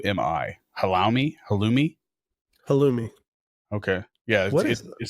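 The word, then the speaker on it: halloumi: or how how Ali is that how you pronounce it what h a l l o u Mi I Hali halumi halumi okay yeah it says mild mozzarella or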